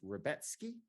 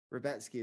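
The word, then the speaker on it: Rębecki: okay the pronounce today pronunciation on the broadcast threw me off rebeetsky yeah I think robeski yeah robetsky is apparently correct uh versus Nick Fury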